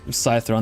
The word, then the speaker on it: citron: Citron is how you say it in Swedish, right?